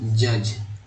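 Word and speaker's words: judge: जुड़ना, मिलाना, ज्वाइन, न्यायाधीश, जज। इसमें डी जो है साइलेंट है, डी को क्या बोल रहे हैं, डी साइलेंट है और एक्चुअली जी का उच्चारण हुआ है।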